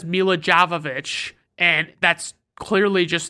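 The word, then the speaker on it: Milla Jovovich: of Sandler's last good comedies then we have Mila Jovovich and if you're wondering Brandon why did you pronounce it like that I'll just say that it's because Mila Jovovich is the way she pronounces it and I learned that in the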